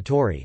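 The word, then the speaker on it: Tauri: the Bull is designated alpha Tori pronounced alpha Tori which means alpha of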